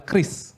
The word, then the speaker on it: QRIS: Oh mungkin itu pengucapan yang salah, yang pengucapan yang benar oleh BI adalah KRIS, ya.